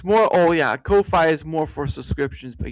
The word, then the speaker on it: Ko-fi: pronounced coffee? Ko-fi? No, it's Coffee? Ko-fi is Ko dash Fi. That's how it looks, and I pronounce it as such.